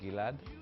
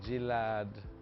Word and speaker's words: Gilad: my artist name is gilad a lot of people get my name wrong so they'll say gillard or girad or gerald or guitar he was born in